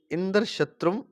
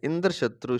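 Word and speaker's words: इन्द्रशत्रु: अतः षष्ठी तत्पुरुष समास वाले इंद्र शत्रु शब्द का उच्चारण अंत्योदात्त होगा, अर्थात अंतिम अक्षर त्रू का उच्चारण उदात्त स्वर से होगा।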